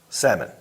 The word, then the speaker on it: salmon: But the fish, salmon. but he sees the L, he's got to say it.